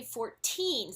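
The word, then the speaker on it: fourteen: sound very aspirated whereas when we say 40 or 30 the stress is on the first syllable and the T is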